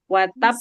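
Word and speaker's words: وتب: Watab itu kan huruf qalqalah ya. Tapi dia ada tasydid. Jadi double qalqalah. Bacanya bagaimana? Watab. Watab. Watab. Tahan dulu. Watab. Karena double qalqalah. Watab. Jangan langsung dibuka. Huruf ba itu kan dari bibir ya. Watab. Jadi tahan dulu ya.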